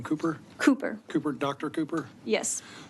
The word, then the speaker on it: Kuper: doc how do you say your last name cooper cooper cooper Dr Cooper yes thank you for